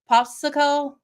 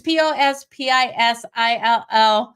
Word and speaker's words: Pospisil: Otherwise, Popsicle is, I'm not saying it right. It's not Popsicle. It's Pospisil.